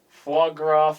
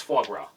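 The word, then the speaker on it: foie gras: Fograth.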